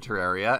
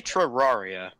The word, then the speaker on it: Terraria: Liam, why do you say Terraria? Terraria. I said Terraria. Oh. just sound like you said it with like a TR instead of a TER.